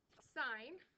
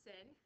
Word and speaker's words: sine: of so your toe sign um is not pronounced sin it's just sign on a calculator you're